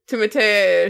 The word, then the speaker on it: Timothée: It's Timothée Chalamet.